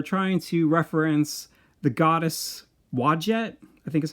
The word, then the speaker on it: Wadjet: And I kind of feel like they are trying to reference the goddess Wadjet, I think is how you pronounce it. It's Wadjet.